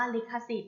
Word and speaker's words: ลิขสิทธิ์: ว่า ลิขสิทธิ์ อิก เลข ค่า สิทธิ์ อ่าน ว่า ลิขสิทธิ์ เล็ก ค่ะ ศิษย์ ประกอบ ไป ด้วย รอ เรือ